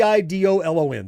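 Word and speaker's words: Eidolon: you're harvesting these different machines on the e i d o l o n.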